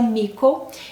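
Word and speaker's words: Mitko: e temos aqui também mico se escreve mítico mas pronuncia mico Ele é um garoto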